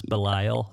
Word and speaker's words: Belial: well the problem is when I see it written in English it's spelled it's in English it's spelled be Li L so it's Belial yeah yeah so now